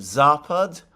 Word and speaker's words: Zapad: Now, by the way, can I just take this opportunity to thank the person who corrected my pronunciation of Zapad? The stress is on the first syllable.